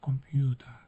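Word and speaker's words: Computer: Bunu da burada C'yi K olarak okuyoruz. Computa burada P'yi vurgulamadan okuyoruz. Biraz Y varmış gibi. Kompyuta şeklinde okuyoruz. Sondaki R'yi A olarak yuvarlıyoruz.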